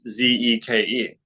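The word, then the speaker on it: Zyke: um i think it's z-e-k-e o i see it on the phantom as z y k e all right c y k e but i think that's not c pronounced zeke okay so z because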